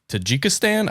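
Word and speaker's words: Tajikistan: There's also a 1994 State Department cable from uh Tajjikstan, I think is how you pronounce it.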